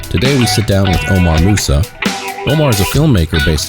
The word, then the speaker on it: Omar Mousa: Omar Mousa, right? Yes, sir. And that's okay. I got the pronunciation right.